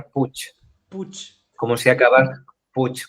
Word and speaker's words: Puig: Sé que vosotros allí decís Puig o algo así, pero el apellido se pronuncia, en catalán se pronuncia Puig, Puch. como si acaba, Puig, como si acabase en CH.